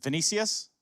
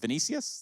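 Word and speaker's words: Vinicius: right first and foremost is it venicius did I say it right yeah it kind of like give or take but your first name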